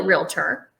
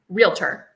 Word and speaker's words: realtor: to actually be a realtor. Realtor. Yeah. 2 syllables, by the way. Correct. Not realtor.